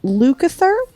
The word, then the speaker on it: Lukather: Is that Lukather's Lukather? correct. Yes. That is correct. You nailed it. I'm so good at not pronouncing things correctly.